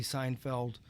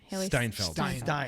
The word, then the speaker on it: Steinfeld: see a dog haley seinfeld jeremy renner yep it looks like it's a lot of fun it's it's certainly not something right steinfeld i always say it wrong and you know jeremy